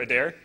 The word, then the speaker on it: Adair: name uh Owen Owen so the the E is silent okay all right and neat and you're a dare okay a dare all right so this is